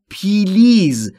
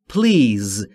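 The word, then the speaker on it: please: تلفظ پلیز دقت بکنید خیلی از زبان آموزا به اشتباه تلفظ میکنن پلیز یا پلیز این دو تلفظ اشتباهه تلفظ درست به این صورته پلیز بین پی و ال صدایی وجود نداره پلیز لطفاً یعنی لطفاً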